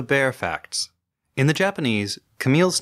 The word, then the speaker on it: Camille: surprise that we were pronouncing that one character's name Camille the way it's said in English where it is used almost exclusively as a woman's name instead of the French name Kami which is spelled identically